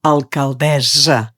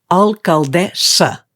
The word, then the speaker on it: alcaldessa: En català no diem alcaldessa, amb S sonora, aquesta que rellisca com la de casa, sinó que hem de dir alcaldessa, perquè s'escriu amb doble S. Per tant, hem de pronunciar aquesta S com a S sorda.